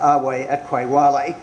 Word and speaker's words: ave atque vale: It's a translation from the Latin ave atque vale, or if I was a proper classic scholar, I'd pronounce the V as a W, so it would come out ave atque vale, but I'm too self-conscious to do that.